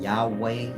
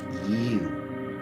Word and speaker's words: YHWH: YHWH ain't Yahweh, Yahweh, none of that. It's pronounced you. In the past, they didn't use vowels, so YH is ya, WH, woo, you.